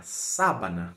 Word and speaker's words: sábana: falar da pronúncia porque a palavra sabana primeiro que a sílaba tônica é a primeira né a banana Então